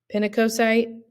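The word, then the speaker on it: pinacocyte: about this memory hook something you can think of is that pin rhymes with skin okay so think pinac coite pin rhymes with skin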